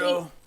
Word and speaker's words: Gerudo: Gerudo. I hate it so much. Don't pronounce the GE.